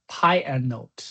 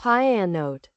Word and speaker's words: pyannote: Intermediate level is to achieve a fine to fine-tuning and handle how to pronounce. Panote. Py anote. Py anote. Py anote.